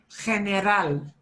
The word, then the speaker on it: general: General is the hardest one for English speakers to say because we want so desperately to say general, but it's general.